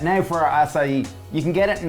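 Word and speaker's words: açaí: simple asai bow asai comes from Brazil it's pronounced asai asai asai uh it's a superfood really high in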